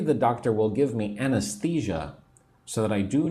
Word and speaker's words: anesthesia: So maybe the doctor will give me anesthesia so that I do not feel pain. I will not feel anything, right? I will not feel the pain. Anesthesia. 4 syllables.